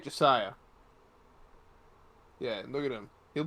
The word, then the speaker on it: Jase: Is his full name like Jase, like in It's Josiah. Josiah? So it's not like Ja? Like It's spelled Jase, but pronounced Josiah.